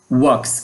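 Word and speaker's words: walk: ওকে আমরা দেখি ওয়াক ও অর্থ হচ্ছে হাটা। ডবলিউ এল কে এল এর উচ্চারণ হবে না।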